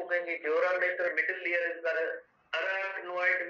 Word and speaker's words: mater: मीटर नहीं है, मेटर है, MATER, MATER भी नहीं है, MATER है।